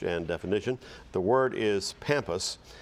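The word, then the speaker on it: pampas: Spanish pampus am I saying it correctly yes pampus p a m p u s pampus incorrect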